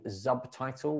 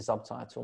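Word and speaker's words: Zubtitle: through it with you called subtitle which is spelled z-u-b-t-i-t-l-e that's a great platform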